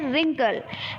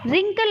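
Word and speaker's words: wrinkle: हो रिस्ट बोलते हो फिर है रिंकल रिंकल आप पढ़ने हो उसमें ब्लू क्या है साइलेंट है तो रिंकल आप कैसे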